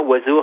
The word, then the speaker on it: oiseau: Vous dites aussi que le mot oiseau est le seul mot de la langue française dont on ne prononce aucune aucune syllabe. Hein, quand on dit oiseau, rien ne correspond à la lettre.